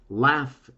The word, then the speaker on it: laugh: you want to say laugh it is ending with gh but you don't hear nor the g nor the h you hear an f and believe it or